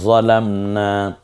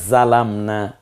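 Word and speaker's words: ظلمنا: যদি বলি রব্বানা জালামনা, এটা কোনটা দিয়ে বলতে পারেন? জিম দিয়ে, জালামনা। আর যদি বলি রব্বানা যালামনা, কোন হরফটা দিয়ে? জ দিয়ে। রব্বানা যালামনা, জালিম, জুলুমাত, সবগুলো জ দিয়ে উচ্চারিত হয়। রব্বানা যালামনা।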